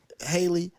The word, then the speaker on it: Halle: with Haley and um Haley, right? I think Haley Holly I say Holly. Yeah, because she spell it that way.